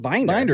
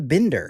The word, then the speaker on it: Binder: how you I mean it's spelled binder like I don't know why people do the Bender yeah I don't know